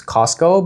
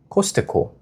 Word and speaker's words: Costco: 그래서 한 번은 one day 미국에서 엄마랑 저랑 Costco를 가게 됐는데 참고로 영어로는 Costco라고 발음하지만 한국에서는 Costco라고들 발음해요. So in Korea, it's a silence, right? This T in Costco, when you pronounce it, you don't pronounce it, right?